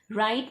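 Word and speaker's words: write: राइट में तो पहला लेटर ही साइलेंट है W, तो अब हम इसे राउंड अप करेंगे क्योंकि इसमें W का कोई प्रोनाउंसिएशन नहीं हो रहा, W का उच्चारण नहीं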